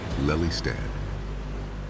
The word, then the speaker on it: Lelystad: It's pronounced Lelystad.